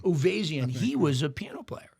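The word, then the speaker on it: Uvezian: And Avo, how do you say his last name? Uvarian? Uvazian. Uvazian.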